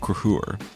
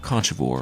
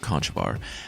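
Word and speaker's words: Conchobar: can't say words basically the current king of olster is named King kurur not Kore or whatever I was calling him last week I've also heard kivar but I'm going with Kor since that seems to be the most widely agreed upon one with this one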